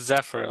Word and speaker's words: Zephyr: no that's okay uh it's it's Zephyr like Zephyr Hills without Hill thank you yeah that's